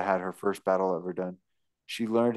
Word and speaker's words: Verdun: Going through several hundred attempts at the Battle of Verdun. Verdun? Is that? Yeah, Verdun. Why is it spelled like that?